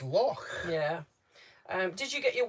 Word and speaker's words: Loch: A bit like saying, a lot of people say, oh, Loch Lomond, as in Lock, when it's spelled Loch. So obviously Loch over here is Loch.